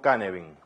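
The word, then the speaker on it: Cynefin: voy a utilizar el marco cane bing se pronuncia así porque es una palabra galesa que lo que intenta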